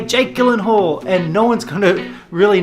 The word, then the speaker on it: Jake Gyllenhaal: one so this one most people say as Jake Gyllenhaal but there's a twist it's actually Jake Gyllenhaal ah Jake Gyllenhaal ah and also let me